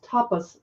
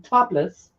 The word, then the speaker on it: tapas: And you'll notice that I always try to carefully pronounce tapas slowly, so I'm not saying topless.